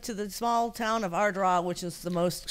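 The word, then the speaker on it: Ardara: Yes, we went to the small town of Ardrah, which is the most... Say it again. Ardrah. Ardrah. How do you spell that? A-R-D-A-R-A. Oh, wow. So it looks like Ardera, but right, it's pronounced Ardrah.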